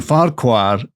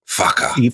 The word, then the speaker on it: Farquhar: Like Farquhar, which made me realize if that's spelt like that and pronounced Sanka, then Farquhar, and I looked it up, the Scottish pronunciation is Farquhar. So we've all been saying Farquhar wrong. We should be saying fucker.